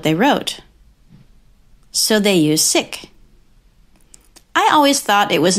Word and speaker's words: sic: Not sick as in unwell or uncomfortable, but sick without the K.